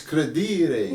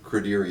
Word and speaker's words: Credere: So the story is that you know, we pronounce the company name Credere Associates in a very, you know, New England style, but we've been to